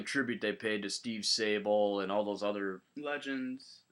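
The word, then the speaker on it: Sabol: I thought the tribute they paid to Steve Sable and all those other Legends did I say it right Steve Sable yes yeah and all those other uh you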